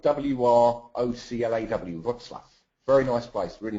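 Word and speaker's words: Wrocław: I'm in Poland, John, in a place called Wroclaw, which is spelled W-R-O-C-L-A-W, Wroclaw.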